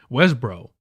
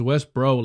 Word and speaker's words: Westboro: Westbro. Oh, it's Westbro, like the Westbro. But is it not O? Hold on. So the last O is silent?